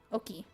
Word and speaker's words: Oki: What is Oki?